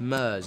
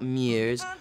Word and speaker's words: Murs: It's pronounced Murs, not Mears, or Moose or Muir. It's just Murs, M-U-R-S.